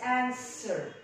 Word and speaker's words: answer: I can't pronounce answer. so the devil here is silent. I'm gonna first all what? so it's answer. answer.